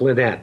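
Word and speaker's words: Linett: I did a wonderful interview with Alan Boyd and Mark Lynette, and I asked him, that's the correct way to pronounce his name.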